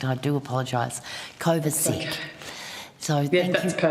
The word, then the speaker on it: Kovacic: Kovacic, I'm going going to have to get your name pronounced correct. I do apologize. Kovacic.